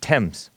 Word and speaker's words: Thames: and the women threw myself in the River Thames yourself wet threw yourself where are two threw myself in the River Thames Oh in the Thames River the tailless tames it looks like but it's pronounced temps th you pronounced it right I'm just telling